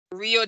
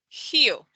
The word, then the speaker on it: Rio: no experience with portuguese however the first word which means river is pronounced heel so it's like an h here then we have another